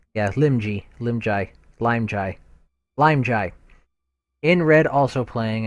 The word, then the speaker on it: Limji: Yeah, Limji.